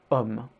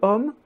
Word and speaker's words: homme: But in French, just like in Spanish, the H is not pronounced. So with le homme, we end up trying